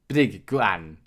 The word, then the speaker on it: bligwan: But our first example here is a bit straightforward because we have a vowel before this combination and after the combination, so it makes it relatively easier to pronounce. So it would be bligwan, to beat, strike.